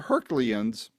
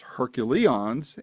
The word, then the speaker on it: HercuLeons: Who I'm talking to are two founding members of a group called the Hercules, not the Herculeons. I know what I'm saying here. It is pronounced Hercules and for a very specific reason.